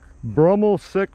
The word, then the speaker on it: Broemmelsiek: for me yeah sure it's bruml Park bruml sick Park bruml County Park all right appreciate that's